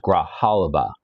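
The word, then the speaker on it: Grijalva: She says it's pronounced Graalaba.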